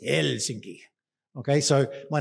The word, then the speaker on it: Helsinki: name is and they always pronounce their first vowel so it's not helsing it's helsinki okay so my name